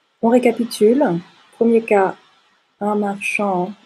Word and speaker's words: marchand: récapitule premier cas un marchand on ne prononce pas le d un marchand une marchande une femme